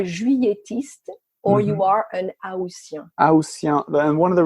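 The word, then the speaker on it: aoûtien: But the problem is when you refer to the people living in August, then you pronounce the A, which is very French, right? Rules and exceptions. Oh, sure, yeah. So how do you say it? So if you go in August, you are an Haussien. Haussien.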